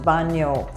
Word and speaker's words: bagno: bathroom and the word bathroom in italian is pronounced banyo now i know there are many dialect words